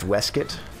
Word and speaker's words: waistcoat: the narration for this that's pronounced weskit oh I'm sorry like